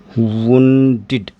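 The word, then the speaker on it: wounded: अब इसका प्रोनाउंसिएशन क्या हो जाएगा? वुंडेड।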